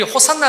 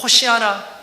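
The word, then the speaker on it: Hosanna: 호시 않아 호시 않아 우리 호산나 라마는 그 영어식 발음 이거든요 히브리인들은 호시 알아 호시 하나 라고 외칩니다 그걸 듣고 그 안났어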